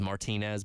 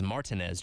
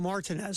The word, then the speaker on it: Martinez: Augusta that is uh it looks like it is Martinez but it's not no is is Martinez Georgia oh Martinez and it that is the correct way to say it I uh I had